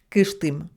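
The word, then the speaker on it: Кыштым: Fédération de Russie et elle s'écrit k dur et se prononce kishtim donc on retiendra que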